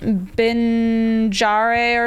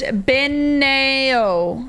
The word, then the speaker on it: Beneo: They say how to pronounce her name, but it's like Binjare or something. That's my lion. She's pretty awesome. Her name is pronounced Beneo. Beneo. It means leaf.